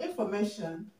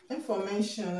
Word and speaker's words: information: see the word um information information okay information has four levels okay it has four levels and the stress is going to be on the second level from the end of the word and the second level